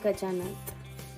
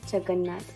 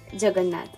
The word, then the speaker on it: Jagannath: Lord Garuda and Gajanath. Sorry, Jagannath. I'm so sorry to pronouncing it wrong. Jagannath, okay?